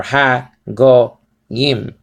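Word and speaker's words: הגוים: So is ha go yim. Okay, ha or ha go yim. Okay, ha go yim. Ha go says over here, and it says transliterated to I am. Ha go yim.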